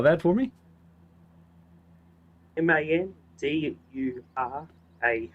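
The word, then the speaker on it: Mandurah: Ah, so I'm um Mandra.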